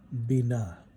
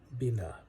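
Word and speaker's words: בינה: And in the Hebrew, understanding is pronounced Binah. Binah.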